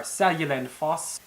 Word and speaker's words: Seljalandsfoss: for you to at least know how they're pronounced before going. Some of the most common places you'll want to visit are Seljalandsfoss, Gullfoss, Reykjavik, Vik, probably one of the harder ones to say, Jökulsárlón.